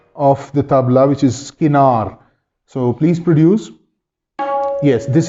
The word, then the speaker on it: kinar: If I ask Zain to please pronounce the outer edge of the tabla, which is skinar.